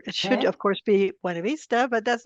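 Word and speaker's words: Buena Vista: of a local uh town that the locals pronounce buav Vista it's really embarrassing to say that to anyone who speaks Spanish or learn Spanish uh it should of course be wav Vista but that's not how they say it yeah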